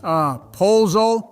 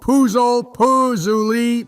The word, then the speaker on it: pozole: How the heck do you pronounce this, guys? Pozole, Puzuli, peanut butter? Stop making a fool out of yourself. It's pronounced pozole.